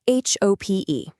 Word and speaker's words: H.O.P.E: It's called H.O.P.E, which is pronounced hope, of course, and it stands for the House of Peace and Education.